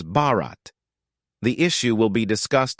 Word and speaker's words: Bharat: language in the country in Hindi the country's name sounds like Bart Bart which can be pronounced as Bharat the issue will be